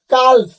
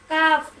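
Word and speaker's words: calf: বলেন তো এই যে সি এ এল এফ কাল এই কেন কাল বলবো না কাপ বলবো কি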